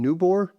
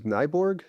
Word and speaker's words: Nyborg: I would like to first thank the Danish Cardiac Society for inviting me here to speak in Nyborg, which I mispronounced last week as Nyborg.